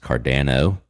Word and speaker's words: Cardano: Actually, it's pronounced Cardano.